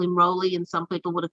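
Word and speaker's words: Rowly: if if roland's nickname do you pronounce it raleigh or rowley um i pronounce it rolly right uh there are people here who say rowley i'm you know and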